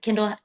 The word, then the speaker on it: Kindle: So, all my social media is Kendall @kendallhuntmusic and my name is spelled like the Amazon Kindle. Like the Kindle reader, k i n d l e.